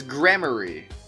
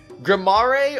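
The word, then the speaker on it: Gramarye: And I don't think I really care, to be honest, because apparently the real pronunciation is grammary. But let's be honest. What sounds cooler? Grammare or grammary?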